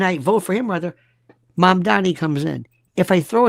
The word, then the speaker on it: Mamdani: Who would you vote for, Curtis, Cuomo, or Mamdani? They can't even pronounce his name. It's Zoran. Zohran. 2 syllables. Zoran. Mam or Mam Dani. 3. Mamdani.